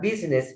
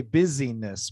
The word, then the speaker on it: business: Business, 2 syllables. Business. The tendency is to want to say busyness, but it's business.